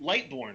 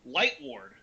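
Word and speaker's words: Lightward: know gideon uh light lightborne right chris yep uh no light light ward like mike ward light ward i believe you know gideon light ward um who has um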